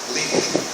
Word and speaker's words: Lincoln: Eu só conheço o primeiro nome, Lincoln. A pronúncia é Lincoln, só tem dois fonemas em inglês.